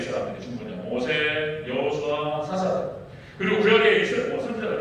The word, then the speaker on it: 여호수아: 여호수아. 구약에서 히브리어로 여호수아 이렇게 발음이 되고요. 헬라어로는 예수 이렇게 되는 거예요.